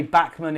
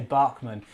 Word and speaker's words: Bachmann: RG Models 86 says Bachmann is pronounced differently too. We say Bachmann in the UK, and in the US they say Bachmann.